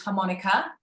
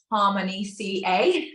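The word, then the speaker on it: HArmonyCa: product um so um it's called harmonica and lots of people are still pronouncing it Harmony CA so just get our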